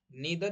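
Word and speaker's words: neither: नीदर या नाइदर का मतलब होता है ना ये ना वो।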